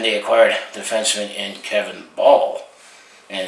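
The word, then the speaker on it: Bahl: And they acquired defenseman in Kevin Ball, and it's spelled B-A-H-L, which is almost pretty close to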